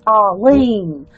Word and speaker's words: Arlene: you just saw oh the accent is on the lien Arlene Arlene did I get it